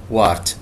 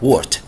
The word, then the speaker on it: wart: verruca معناها تأليل, wart باللغة العربية wart طبعا الاي بعد ما تنطق الدبليو قصدي بعد ما يجي بعدها حرف متحرك تنطق او فنطقها الاصلي هذه ليست wart انما تنطق wart common wart which is called verruca vulgaris.